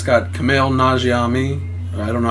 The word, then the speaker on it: Nanjiani: It's got Kumail Nanjiani. I don't know how to pronounce his name correctly.